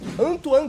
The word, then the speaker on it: Antoine: Em nono, o francês Anthony Griezmann. Pô, pera aí, tem que saber pronunciar o nome dele certinho. Antoine Griezmann. Em nono, esse eu gosto muito. Antoine Griezmann.